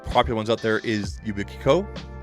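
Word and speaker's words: Yubico: ones out there is ubiko I think it's pronounced yubiko yubiko um and you literally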